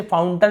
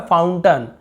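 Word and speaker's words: fountain: Example देखते हैं, जैसे कि फाउंटेन, हम इसे फाउंटन लिखा हुआ है, फाउंटन, हम फाउंटेन ऐसे बोल देते हैं, फाउंटन। तो यहाँ पर भी अ उच्चारण हो रहा है।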